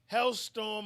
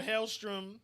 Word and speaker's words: Helstrom: is pretty much where hellstorm or hailstrom however you want to pronounce it is the son of